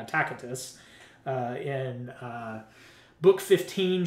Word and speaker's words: Tacitus: annals i'm using the latin pronunciation some of you call it tacitus but i prefer proper latin tacatus uh in uh book